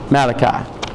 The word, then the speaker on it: Malachi: Go, if you will, to Malachi chapter 3. Malachi. Or the correct pronunciation, Malachi.